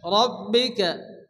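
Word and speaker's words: ربك: টান দিয়ে পড়তে হবে রব্বিকা রব্বিকা ফাল এখানে রফ সেকেন্ডের ডানদিকে অক্ষরের উপরে জবর আসছে এখানে রকে পুর করে মোটা করে উচ্চারণ করতে হবে বা উপরে জজম আসছে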